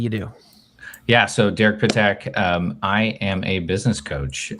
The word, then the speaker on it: Pittak: So I'm always fascinated by it's like 2 syllables, right? And break it down. Pittak, not Pittak or Pittak or Pittak.